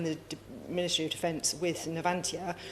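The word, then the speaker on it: Navantia: And when I was sat in the Ministry of Defense with Nvantia or Nvantthia as as perhaps the better way of pronouncing them, um you know, we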